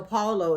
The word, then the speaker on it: Paulo: wrong with just mad confidence but i know paulo is the the right way to say his